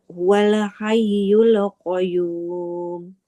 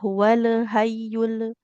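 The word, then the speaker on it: هو الحي القيوم: Allahu ilahailla hual huwal hayyul qayyum. Hm. Lamnya enggak boleh memantul. Tidak. Hual hayyul hual hayyul qayyum. Huruf ya. Jangan lupa ditekan ya. Karena di sini huruf bertasydid maka harus diberikan penekanan.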